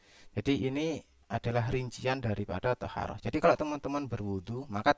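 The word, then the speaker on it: طهارة: Wa taharah bi fathi ta' dan taharah bi fathi ta' maksudnya dengan fathah ta, di huruf ta ini di fathah, bacanya kan taharah gitu ya.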